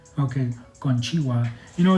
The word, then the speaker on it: konnichiwa: Konnichiwa. So did I say that right? Yes, you pronounced it right. Okay, konnichiwa.